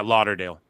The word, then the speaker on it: Lauderdale: Yeah, Lauderdale.